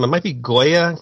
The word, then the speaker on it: Gioia: I don't know how to pronounce his last name. It might be Goya. It's Gioia, but he wrote this for the Daily Beast website, and I was just really intrigued by it.